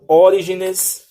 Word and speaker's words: Orígenes: antigos, como Calvino, Tertuliano, Orígenes, Orígenes, né? A pronúncia minha tá uma benção. Teve um vídeo que eu errei esse nome aqui mais de 300 vezes. Tem um acento no i.